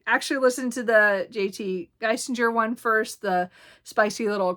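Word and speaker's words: Geissinger: Then Falling by uh Christina Lauren, Spicy Little Curses by JT Gissinger. Gisinger, sorry I keep saying it wrong.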